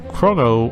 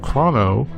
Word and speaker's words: Chrono: Anyway, Zoltan asked me if I could say a few words on the English pronunciation of a certain protagonist commonly pronounced either chrono or chrono, and the antagonist pronounced either magus or magus.